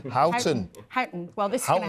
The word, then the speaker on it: Houghton: I was going to say, actually, Peter Mandelson just picked me up on my pronunciation of Houghton. He says Houghton. Houghton.